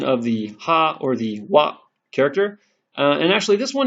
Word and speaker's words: は: Okay, so when ha is being used as a particle in a sentence and not part of a word, it's pronounced as wa, like in water.